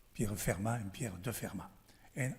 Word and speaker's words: Fermat: the talk will be Fermat. So maybe you could ask, how do you pronounce it? Fermat? Fermat? Like you say from some places, Muret, Fermat in the local language.